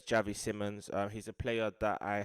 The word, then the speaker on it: Xavi Simons: how to say his name some people say Simon some people say Seymour but it's Javi Simmons he's a player that I have um known